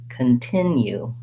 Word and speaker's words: continue: rhythms so for example in continue i'm going to listen for that rhythm of second syllable stress that it goes short long short continue and that's going to help me not only get the rhythm of the word but the vowel sounds in the word because my clear vowel is in the stressed syllable which sounds like tin it has this lacks if vowel the same vowel that's in big and did and tin is a